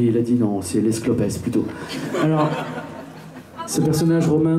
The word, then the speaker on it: Les Clopes: si vous avez envie le groupe s'appelle les clopes mais vous pouvez le prononcer laisse clopes si vous avez envie car certains le propose comme ça et ça donne quelque chose d'un peu plus pimenté un peu sympa l'escopes nous allons partir